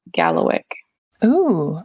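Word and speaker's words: kalawikk: is actually Diamond but in migma it's k a l a w i k k and it is pronounced Gallo o okay yeah so I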